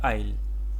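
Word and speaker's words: aisle: Next word है आईल। इसको आईल कहते हैं। ठीक है? एजल वगैरह नहीं है यह। इसको आईल प्रोनाउंस करते हैं।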